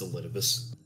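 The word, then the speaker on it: Elidibus: have outdone yourselves those vulgar this yeah it's pronounced elitibus okay yeah elidabus oh attachment to your dave sorry what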